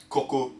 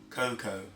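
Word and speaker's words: koko: porridge, but for Ghanaians, yeah, coco, that's how you pronounce it. For the English people, cocoa or cocoa, but we call it coco, you know.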